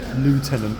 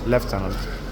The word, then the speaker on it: Lieutenant: rot and always saying Lieutenant which is a US pronunciation even though I know for well it's left tenant but instead of camos